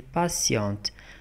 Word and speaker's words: patient: Elle est patiente, patiente. Regarde ici, une T, quatre S. Patient. Elle est patient, patient. Regardez, T se prononce S.